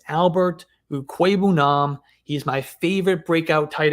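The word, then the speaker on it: Albert Okwuegbunam: year my value is mr albert ukweibunam and yes that is how you say his name just look it up on youtube he himself pronounced it in a video when he was back in at uh missouri it's albert ue queben he's my favorite breakout tight end for 2022.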